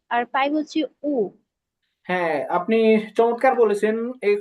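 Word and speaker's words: 五: আর শেষে যেটা আছে পাঁচ, পাঁচ হবে উ, উ, এটা হবে থার্ড টোনে, হ্যাঁ।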